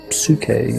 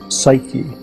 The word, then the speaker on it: psyche: was given a name the name was Sookie and grief psyche is how we pronounce it now and the word means